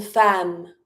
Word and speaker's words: femme: vote One more time pronunciation repeat after me in fam with the a sound fam. a num late TS mute legality travail education le vote Okay, now let's talk about the woman in different jobs fam don't different mate.